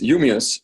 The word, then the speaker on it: Umeus: How do you pronounce that? It's Umeus, but I did get it right. But it stands for you, me, us.